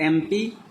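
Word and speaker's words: MP: एमपी का first letter जो है एम है जो कि कॉन्सोनेंट है, लेकिन जब हम एमपी को पढ़ रहे हैं तो उच्चारण ए से हो रहा है, तो इसलिए एमपी के जस्ट पहले हमने इंडेफिनिट आर्टिकल एन का प्रयोग किया।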